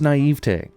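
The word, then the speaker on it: naïveté: Well, I believe it's pronounced naivete, which is part of why I try to never say that word.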